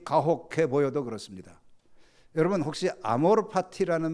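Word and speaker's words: amor fati: 이거 아마 어떤 김현자라는 가수가 부른 그 유행과 같은데 사실 이게 정확한 발음은 아어로 파티가 아니에요. 파티 그러면 파리 PY로 아는데 이것은 여기에 파티는 Fati 라틴입니다.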